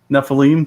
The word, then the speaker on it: Nephilim: Nephilim.